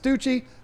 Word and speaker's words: Stute: Did you say Stucci? I'm pretty sure you corrected me and said it's pronounced Stucci.